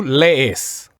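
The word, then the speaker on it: lees: singular anything we get lace is that how you pronounce it lace the accent goes on the first e okay say it again for us to lace lace yeah okay and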